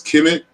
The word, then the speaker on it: Kemet: know that the word, as we pronounce it, as Kemet, was one of many names for ancient Egypt.